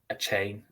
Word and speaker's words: Achane: The rush offense, obviously, Devin Achane, as I think that they're saying that's how it's pronounced now, is obviously on IR,